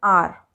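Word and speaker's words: hour: A house, but, an R. Why? Because the H at the beginning of R is silent.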